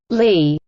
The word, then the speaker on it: Lie: In mathematics, a Lie algebra, pronounced Lie, is a vector space